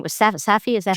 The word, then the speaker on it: Safdie: What so the director's last name was Safdie? Is that how you pronounce it?